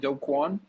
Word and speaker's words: Do Kwon: um so don't call am i am i pronouncing this right dokwan yeah okay so dokwan is the co-founder of